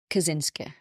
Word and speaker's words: Kaczynski: Ted Kaczynski. Sometimes pronounced Kaczynski, which is the original way to pronounce it, but Kaczynski is how it is pronounced.